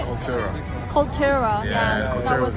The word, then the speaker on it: Cultura: Cultura.